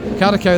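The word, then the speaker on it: Karaköy: Carricow, that's how you pronounce it.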